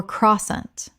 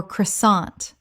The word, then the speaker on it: croissant: Common mispronunciation, quassant or crossant. Correct pronunciation, quassan British or croissant American. The T at the end is silent. This word comes directly from French.